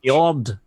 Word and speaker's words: Njord: See, to me, that just says Njord. Yep. Njord. Then, In the Nordic language, the J is pretty much silent, and it sounds like a Y.